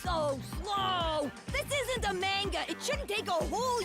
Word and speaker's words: manga: slow this isn't the manga it shouldn't take a whole year for a day to pass hey dummy it's pronounced manga not manga oh man that sounds